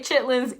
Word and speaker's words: chitterlings: I will say chitlins in a speech, even though I know it's spelled chitterlings.